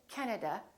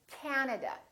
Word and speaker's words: Canada: and also three a's this time the first syllable is stressed this time this ah is really long so don't say canada say canada canada so you need